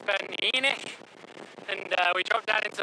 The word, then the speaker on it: Ben Eunaich: We just dropped down off the first Munro, which I pronounced incorrectly before, and it's Ben Eunaich.